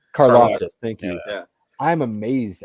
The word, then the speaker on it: Karlaftis: am amazed at all these mocks that see Kalefkis. Am I saying that right, Andy? Why do I always say his name wrong? George Karlaftis. Karlaftis, thank you.